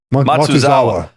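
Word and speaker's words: Matsuzawa: Matuzawa right Matuzawa Hawaii's kicker.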